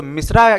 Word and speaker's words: Misra: Spelling का यहाँ पे खास ख्याल रखेंगे कि यहाँ पे MISHRA नहीं है, यहाँ पे MISRA है। तो मिश्रा कहा जाता है इनको यहाँ पे।